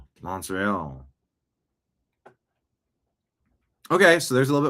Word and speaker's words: Montreal: How do you pronounce Montreal? Like a Frenchman. Montreal.